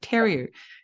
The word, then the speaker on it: Theriault: actually recorded that, but I pronounced your surname wrong. I said Theriault instead of Theriault.